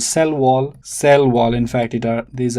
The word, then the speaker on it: cell wall: Look, cell wall, stress falls on the second word. Cell wall.